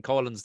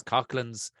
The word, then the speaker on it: Coughlin's: Mike is saying Collins. That's for the Cork people that are listening to this. Everybody else, that's Coughlin's, or if you're from the UK, it's Coughlin's, which spell it any of the 3 fucking ways, but it's Coughlin's.